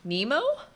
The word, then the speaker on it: Nemo: uh pardon the usa how do i pronounce my name nemo it's like the fish yeah and andrew tang